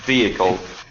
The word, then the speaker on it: vehicle: it's on the first vehicle right it's on the first vehicle okay and for you